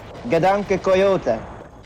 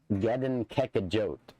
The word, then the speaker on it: Gedanke Coyote: But I couldn't hear the exact pronunciation, and I want to get this right, because I've been telling people that it's Gedankekajot, which is incorrect.